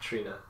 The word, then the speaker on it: Triona: I think her name is just Trina. Oh really? I always thought it was Triona. So yeah, that's how it's spelled. But yeah, I think she like corrected someone during the panel, like friendly. Like, my name's Trina.